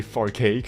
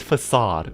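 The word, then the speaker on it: façade: C, that C is supposed to pronounce as an S. Like Caesar and certain.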